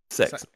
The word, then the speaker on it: CeX: of cops how do you say it's cex sex it's like going to sex and complaining it's